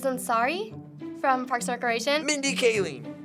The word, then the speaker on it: Mindy Kaling: Mindy Kaling. Is that how you pronounce it? Yes, okay.